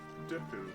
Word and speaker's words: Deku: Or do you pronounce it like Deku? There is a right answer. Deku. You choose to say it wrong too. It's supposed to be pronounced Deku because of the Japanese lettering, but I say Deku myself.